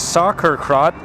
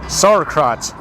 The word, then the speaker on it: sauerkraut: other side which is soccer crap sauerkraut that's how you say it sauerkraut is the fermented